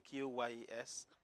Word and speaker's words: QYES: In short, yes, the Q is silent. So it's supposed to be QYES, so you don't mention the Q.